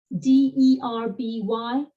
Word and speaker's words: Derby: Think about the place where the horse race happens, D-E-R-B-Y, we say Derby in this side of the pond. The Americans call it the Derby.